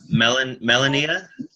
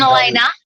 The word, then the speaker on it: Melena: Melania? It's Melena.